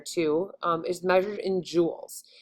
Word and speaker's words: joules: um is measured in joules so it's kind of it sounds like the jewels that you wear like on your fingers or on your ears but um it's spelled